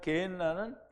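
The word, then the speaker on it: γέεννα: 아까도 설명을 드렸지만 게엔나는 흰놈의 골짜기라는 뜻을 가진 히브리어를 헬라어로 얘기할 때 게엔나가 되는데요. 게흰놈이라는 발음이 그렇게 돼서 게엔나가 되는데요.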